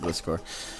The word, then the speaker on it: Gliscor: I don't know if that Sableye would have Will-O-Wisp or Thunder Wave, but I'm gonna lead Gliscor because, or Gliscor, however you want to pronounce it. I pronounce it Gliscor.